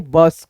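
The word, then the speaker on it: bus: जैसे यहां पे देखो दो कॉन्सोनेंट के बीच में यू आता है तो हम दोस्तों अह यू का जो है ना उच्चारण अ के रूप में करते हैं। उ के रूप में नहीं जैसे बस कब फन हट ऐसे करके आगे बढ़ेंगे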